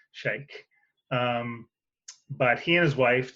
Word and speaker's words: Scheich: I met his great-great-granddaughter, I think, at an event, and she told me I was saying it wrong. So I think I pronounced it right this time, Scheich.